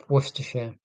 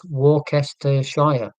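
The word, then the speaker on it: Worcestershire: people trying to pronounce the name of the county that I live in Worershare. Yeah, but when you look at it phonetically it is Warcaster Shire. So I've got a lot of sympathy for people in the in in the American in America or elsewhere who cannot pronounce because why would you go oh yeah you wouldn't would you? You'd go western.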